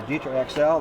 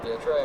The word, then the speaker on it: DITRA: - DITRA, yeah. - Every time I say it DETRA and people correct me, 'cause it's DITRA.